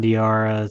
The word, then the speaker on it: Diarra: You got Alex Caravan and Hassan Dari, is that how you pronounce it? Hassan Diarra, Samson Johnson, yeah.